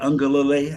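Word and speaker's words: Uiagalelei: Um, DJ Ungalale, I think is how I pronounce his name, coming in.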